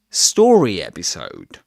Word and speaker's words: story episode: And compound nouns in English are early stressed, which means that the first element in the unit gets the main accent. So, and actually, story has two syllables, story. So the main accent goes on the stressed syllable, story episode.